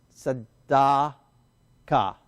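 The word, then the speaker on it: צדקה: word first okay ready Sada Ka sa da ka it has to be one syllable three letters together Ka Ka sadaka sadaka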